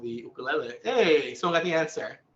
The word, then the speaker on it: ukulele: Its nickname, the ukulele. But we definitely want to encourage that you pronounce it properly. So it's uku. Everyone say uku. And then ukulele.